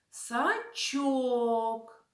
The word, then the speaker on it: сачок: собою відро і сачок наголос цих словах падає на другий склад сачок від ро а лука взяв вудочку